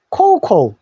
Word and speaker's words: cocoa: 근데 요 A자 써도 오우라고 발음한다는 겁니다. 그래서 우리 코코아는 코우라고 영어 발음하시면 됩니다. 재밌죠? 코코아를 코우코우. 자, 근데 코코아라고 외국인들한테 얘기해도 알아듣는다 그랬죠? Do you like cocoa?